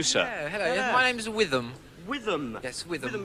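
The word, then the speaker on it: Whitham: My name's Witham. Witham. Yes, Witham. How do you spell that, Witham?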